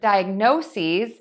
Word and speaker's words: diagnoses: diagnosis diagnosis diagnosis and for diagnoses the ending is going to change still four syllables but the ending is going to be seize with the long e and a Z so diagnosis diagnoses diagnosis diagnoses